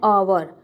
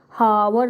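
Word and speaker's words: hour: हम उसको हॉनेस्ट नहीं बोलते, हॉनेस्ट नहीं बोलते हैं हम उसको, हावर नहीं बोलते हैं हम उसको. क्या प्रोनाउंस करते हैं? An honest boy, एन आवर. तो यहाँ पे साउंड जो है वो ओ का है, इसीलिए इसके सामने हमने क्या लगाया है?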